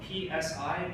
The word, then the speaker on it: psi: It's spelled P-S-I, but you just call it psi of x.